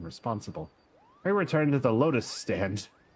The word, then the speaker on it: Lotus Stand: I return to the Lotus Stand. Sorry, it rhymes with Waking Sands.